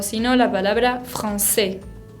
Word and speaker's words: français: O si no, la palabra français, français, significa francés.